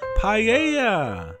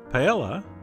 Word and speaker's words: paella: Ramsey might call it, paella. Although, actually, he would say it more like paella. But anyway, the point is some people pronounce the LL.